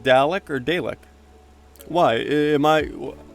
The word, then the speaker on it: Dalek: Wrong pronunciation. Darlick. There's no R in there, though.